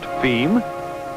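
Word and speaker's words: fim: as for distribution within Brazil F IIM pronounced theme being yes you've guessed it Portuguese for the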